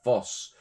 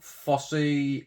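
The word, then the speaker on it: Fosse: 1972 directed by Bob Foss. I presume you pronounce it Foss and not FSY. I mean, we have the Fossway Rogue that's spelled the same. So, yeah, we'll go with Bob Foss.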